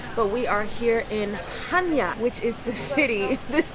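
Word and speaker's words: Chania: we are here in Hanya which is the city this is that's the city we're in it's spelled c-h-a-n-i-a but it's pronounced Hanya we actually don't dock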